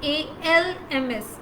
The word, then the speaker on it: alms: Another arms, A-L-M-S, arms.